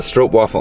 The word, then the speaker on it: stroopwafel: stroke stroopwafel strope strope stroke waffle that's how you pronounce it yeah there's a strope waffle on top of one